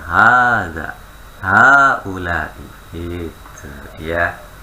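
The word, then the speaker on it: هذا: Iya, haknya ingat, kalau hak seperti haza tadi. Kan tulisannya haza, pendek ya. Aslinya panjang Ibu, maka baca panjang. Haza.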